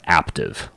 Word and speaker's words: Aptiv: This podcast is also brought to you by Aptiv. Like active, but spelled with a P.